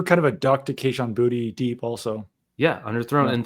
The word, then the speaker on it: Kayshon Boutte: Also on that underthrow to Kayshon Boutte, I said that correctly.